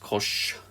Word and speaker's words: cosh: So at the moment, we've got the hyperbolic cosine function, pronounced cosh.